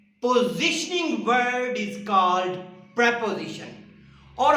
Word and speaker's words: preposition: पोजिशनिंग word is called प्रेपोजिशन। और हमारे बहुत सारे साथी इस वर्ड को प्रीपोजिशन पढ़ते हैं, जबकि इसका एक्चुअल जो प्रोनाउंसिएशन है वो है प्रेपोजिशन, प्रीपोजिशन नहीं है।